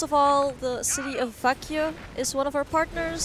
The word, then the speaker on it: Växjö: Also, our partners, first of all, the city of Växjö is one of our partners. Excuse me, Växjö. Växjö, excuse me. You know, I know the pronunciation is so different to the literation.